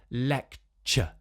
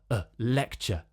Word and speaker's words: lecture: of these words to get that lovely schwa sound at the end. So lecture, lecture.